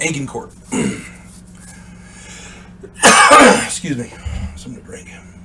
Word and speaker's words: Agincourt: of aegon Court a-g-i-n-c-o-u-r-t I've heard it pronounced again court and agencourt uh I'm going with the engine Court excuse me something to